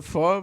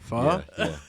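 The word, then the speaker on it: phở: Yeah, Isn't pho Vietnamese?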